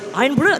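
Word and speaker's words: Irn-Bru: Iron brew? Is that right? Do you get to sort of taste... Iron brew.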